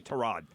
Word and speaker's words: Tyrod: screaming at the radio it's Tyrod no it's not it's actually trod that's how he pronounced it I'm going to go with his own pronunciation on his own name I I don't I